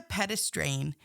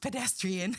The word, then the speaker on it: pedestrian: So one of our kids the other day we were out and she goes what's a pedestrain and I was like it's pronounced pedestrian.